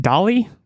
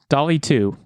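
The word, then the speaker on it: DALL-E: to say it wrong is it dolly is it like Wally I think so yeah Dolly too which is the image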